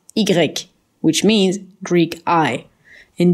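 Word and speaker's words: i grec: to live it the Y a letter is pronounced eager Ike which means Greek I in Dutch is pronounced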